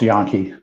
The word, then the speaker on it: Jahn: hey Phil yeah have my last name is pronounced yon see I got it